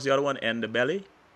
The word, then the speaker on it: Ndebele: some statement in Shona, or how do you pronounce the other one? And the belly. Ndebele, yes.